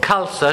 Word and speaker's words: Khalsa: next guest suit cor KSA she said it's pronounced like salsa and I was scared